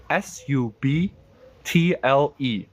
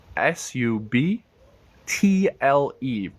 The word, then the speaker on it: subtle: b t l e s u b t l e do you know how to pronounce this word s u b t l e sa sa subtle it sounds like a d yes subtle subtle SLE